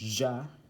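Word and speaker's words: Я: This one right here now is pronounced Ja, and it is used in a lot of words with feminine.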